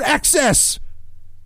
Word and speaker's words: iPhone XS: I mean, it's the iPhone XS, but read it, more phonetically. It's the iPhone XS. Get it? XS?